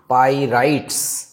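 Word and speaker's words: pyrites: পাইরাইট। এটার উচ্চারণটা হচ্ছে পাইরাইটস।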